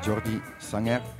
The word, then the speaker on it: Jordi Sanger: So I'm Jordi Sanger, but I recently learned that my name is pronounced Jordi Sanger in Indonesia.